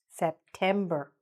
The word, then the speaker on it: September: The stress again in the middle. October. September.